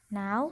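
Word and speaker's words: know: of mode on कि नाव passed from first हे के एन ओ डब्ल्यू नो कि के इनो डब्लू इसमें के साइलेंट है तो उसका साउंड नहीं होता है तो इसका प्रशिक्षण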